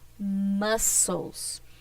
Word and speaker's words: muscles: I mean how you pronounce sorry how to pronounce this word muscles okay so the letter c and this word is silent so warming up is essential for your muscles if you start working out without warming up